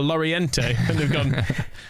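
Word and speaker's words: Llorente: he's misunderstood i think someone said that you pronounce laurente the spanish pronunciation he's like it is they need to install like a yeah in it and he's going oh loriente yeah yeah yeah that's that's near enough fine you can you go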